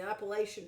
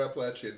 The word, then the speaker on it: Appalachian: Or Appalachian, depending on who you ask. Appalachian, yes. Whoever heard that? Yes. We were told that Appalachian is the only correct way to pronounce it by an author, and no, to us it's always been Appalachian.